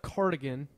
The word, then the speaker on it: cardigan: He thought instead of cardigan, the sweater, Now I'm completely confused as to how to say it. it's not carnigan with an N. It's with a D. Cardigan.